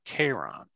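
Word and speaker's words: Charon: the river styx now everyone who knows anything about greek mythology and is probably cringing at the way i'm pronouncing which is sharon why sharon and not k-ron because the actual greek way of saying sharon was k-ron well the reason was that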